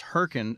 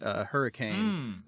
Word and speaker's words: Hurricane: Constantine said that West Virginia City is pronounced hurricane, not hurricane.